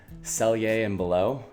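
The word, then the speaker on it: Sellier & Bellot: a hundred rounds of sell yay and below and yes that is how you say it I had to look that up the actual pronunciation but it's silly and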